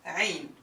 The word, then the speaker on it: عين: It's, you start saying ah and then you press against your throat. Ah. So that عين will come out. Alright? You can even write it like an ah. Ah squished with a ra.